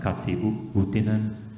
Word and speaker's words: Kati Outinen: them who was-- I think her name is pronounced Kati Outinen,-- EIJA-LIISA AHTILA: Uh-huh.